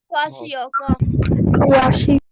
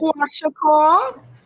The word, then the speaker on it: kwashiorkor: How do we pronounce that? We missing protein. Kawashiko. How when you missing protein in your diet? What? Kwashiorkor. Someone said it. Kwashiorkor.